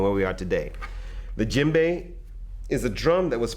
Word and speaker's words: djembe: Okay, so the other drum that I'm going to talk to you a lot about is called the djembe. Now the djembe is spelled D-J-E-M-B-E.